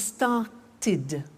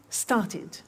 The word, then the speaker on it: started: If a verb ends with a T or a D, then the pronunciation of ed becomes id. And in fact, it's impossible to pronounce it any other way. Take an example, start. It becomes started. Started, not started, started. Okay? So, want becomes wanted, start becomes started, land, landed, paint, painted.